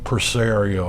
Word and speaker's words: Presario: This computer, Compaq Presario, I think it's pronounced, was built for a Windows 2000 or Millennium Edition.